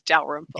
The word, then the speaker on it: Dalrymple: Well, I only emphasized the syllables just to give you the 3 Yeah. round things. It's Dalrymple. Dalrymple.